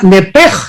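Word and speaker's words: נפש: Pero aquí la palabra alma es la palabra nepej en el hebreo, nepesh se escribe.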